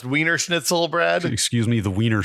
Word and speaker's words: Wiener schnitzel: free section of the vener Schnitzel that I cannot believe I just said it in German style I believe it's we it's pronounced weener schnitzel Brad excuse me the